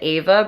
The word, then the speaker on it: Ava: with a company called Abba bracelet and yes it's the same name as Abba but I'm sure they pronounce it Ava bracelet it's actually a